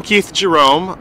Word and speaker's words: Keith Jerome: So I'm Keith Jerome.